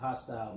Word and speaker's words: HaStyle: Yeah, I wanted to ask you about that, HaStyle, because it took me a minute to even connect HaStyle to HaStyle. Right. H-O-S-T-I-L-E. Right. To HaStyle, which is... It was the same pronunciation. Right, same pronunciation.